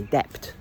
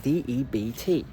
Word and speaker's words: debt: in your life ever heard a native English speaker say debt, okay? But you know how it's spelt. You know that it's spelt D-E-B-T. You trust your eyes. You've got no doubt in your mind that that's how it's spelled. And no matter how many times you hear native English speakers say this word correctly, to say it debt, you just don't trust your ears.